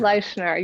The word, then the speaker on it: Leischner: And then her last name is spelt Leischner. Shannon Leichner, or is it Leichner or Leichner? Leichner, you got it right.